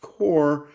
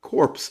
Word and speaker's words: Corps: I think the word is technically pronounced core but uh because of the theme I think it might actually be supposed to be pronounced um corpse of discovery.